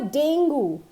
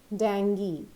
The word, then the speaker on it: dengue: name and I think 90% of the people pronounce it wrong so it is Danny it's never ding goo that is incorrect it is always dengue so next one being app development we call